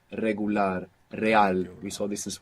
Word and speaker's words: regular: talk about this r an initial R like in regular in most Spanish dialects it's a rolling R you get this flick of the tongue regular real we saw this